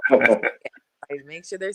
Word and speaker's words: Alycia: it's Alycia, not Alicia, right? Yes, if you hear anyone say Alycia, please correct them, because it is Alycia.